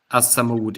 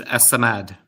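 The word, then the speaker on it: الصمد: And by the way, I said it wrong. It isn't as-Samud. It is as-Samad. As-Samad, okay.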